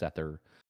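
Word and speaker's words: seiðr: spelled s-e-o-i or something like that but it's pronounced sether like a lot of that stuff from the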